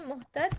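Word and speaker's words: مهتد: तो उसको फिर हम पढ़ने में अगर साइलेंट पढ़ रहे हैं तो मुहतद, और अगर वक्फ नहीं है तो मुहतदी पढ़ा जाएगा ये।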